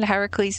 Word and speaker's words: Heracles: love that film although technically Hercules is the Roman pronunciation Heracles is the Greek pronunciation sir I have music